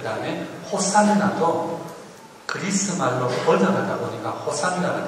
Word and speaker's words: 호산나: 그 다음에 호산나도 그리스 말로 번역하다 보니까 호산나가 됐고, 원래 히브리 말은 호슈야나였습니다.